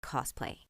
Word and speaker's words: cosplay: But either way, it should be pronounced cosplay with an S, not cosplay with a Z.